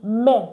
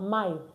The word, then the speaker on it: mai: Because AI in French is pronounced E.